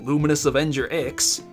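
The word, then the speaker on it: Luminous Avenger iX: And after that, maybe I can even do Luminous Avenger X, yes, that's how you say it, and possibly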